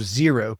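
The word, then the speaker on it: Xero: One alternative to QuickBooks is called Zero. that's spelled X E RO O.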